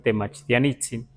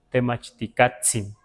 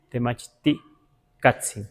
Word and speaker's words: Temachticatzin: Por ejemplo, Temachtiani no le vamos a decir como a veces algunos dicen Temachtianitzin. No sabemos si en algún momento sí funcionó, no sabemos, pero hoy en día lo mejor no es decir Temachtianitzin, sino Temachticatzin. Temachticatzin, así.